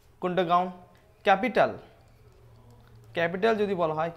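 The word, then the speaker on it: Kadungon: That is কুন্ডগাউন। কি নাম? কুন্ডগাউন, KUNDU, কুন্ডগাউন। দেখো হতে পারে এখানে আমার ইয়েগুলো ল্যাঙ্গুয়েজ হয়তো স্পেলিং আলাদা আছে, কিন্তু উচ্চারণ এভাবে করতে, ঠিক আছে।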